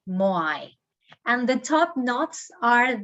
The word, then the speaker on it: Moai: Ahu is the pronunciation. And the statues are called Moai, Moai.